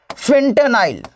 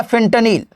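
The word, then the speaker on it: fentanyl: तो इसका नाम है बेटा फेंटेनाइल या फेंटनील, फेंटनील है ना। इसके उच्चारण में कुछ उलटफेर हो सकता है, इसको लेकर के तनाव मत लीजिएगा। कोई फेंटेनाइल भी कह देता है, कोई फेंटनील भी कहता है।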